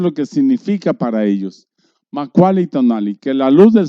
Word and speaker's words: Macualli: Es una palabra muy hermosa y dice, y se escribe así, Macaulay, doble L, se pronuncia como doble L, tonali, que se traduce